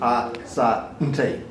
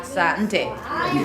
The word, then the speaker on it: asante: I had a look at a guide of pronunciation and Yeah. suggested asante. Yeah, asante. So it was 3.